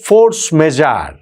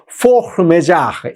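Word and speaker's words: force majeure: দিয়েছে যেটাকে বলা হচ্ছে ফোর্স মেজার। ইংরেজিতে ফোর্স মেজার, কিন্তু আসলে এটা একটা ফ্রেঞ্চ শব্দ, তো ফ্রেঞ্চ উচ্চারণ করাটা বড্ড কঠিন। আমি দেখলাম সবচেয়ে কাছাকাছি বোধহয় ফোর্স মেজার এই টাইপের কিছু একটা উচ্চারণ হবে।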